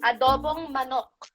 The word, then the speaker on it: adobong manok: Adobong manok.